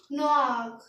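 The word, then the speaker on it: noir: एन ओ आई आर और ये हमारा इसकी pronouns and डब्लू ए आर तो इसे क्या पढ़ेंगे नक नक मींस ब्लैक ये जो लिखा हुआ है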